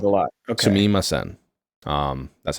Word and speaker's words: sumimasen: Sumimasen. That's how it's spelled in English, obviously.